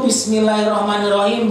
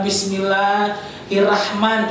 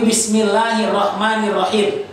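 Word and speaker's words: بِسْمِ اللَّهِ الرَّحْمَنِ الرَّحِيمِ: ya dibaca dulu diperhatikan Oh ini tuh Bismillahirrohmanirrohim bukan Bismillah hirrahman atau Bismillahir ini bukan tapi Bismillahirrohmanirrohim Oke dilihat oleh mata diucapkan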